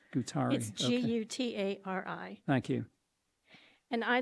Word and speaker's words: Gutari: that I can read it and if you pronounce it too that'd be great sorry yes my name is gutari gutari g-u-t-a-r-i thank you and I live in Highlands